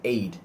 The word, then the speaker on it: aide: That's called aid, A-I-D, first aid. But when you speak about the word aid, A-I-D-E, so both the pronunciations are the same, only the spellings differ.